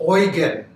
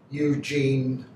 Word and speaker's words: Eugen: of the field marshall swords uh the prince oygan and it's spelled e-u-g-e-n so don't say prince eugene if you say that everybody oh they got